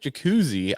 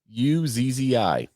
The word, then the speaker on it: Jacuzzi: reduction in downforce Eric jacuzzi I'm pretty sure that's how you pronounce it right oh I don't I don't know how does it spelled j-a-c-u-z-z-i I would say that yeah jacuzzi who is the vice